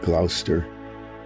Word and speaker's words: Gloucester: things, they just skip a whole lot of the letters when they say them. Like Gloucester. Okay, it's like Gloucestershire. That kind of thing.